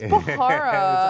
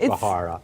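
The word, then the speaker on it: Bharara: It's Bahara. I know it's Bahara.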